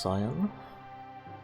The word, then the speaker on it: Cyan: So his original name is Cayenne, like the pepper. So I guess it's pronounced Cyan.